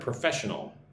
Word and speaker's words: professional: Look at the word professional. Prull but the emphasis on the second syllable professional here lan kazak